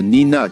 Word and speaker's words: nina: Les mots quechua sont accentués sur l'avant-dernière syllabe. Par exemple, nina qui signifie feu, wawa, bébé, yaku, eau.